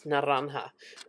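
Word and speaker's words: naranja: Now, in Spanish, it's naranha. That one I know how to pronounce.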